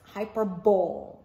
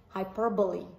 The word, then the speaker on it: hyperbole: So I know that you're going to pronounce this hyperbole, when in fact it's not hyperbole, it's hyperbole.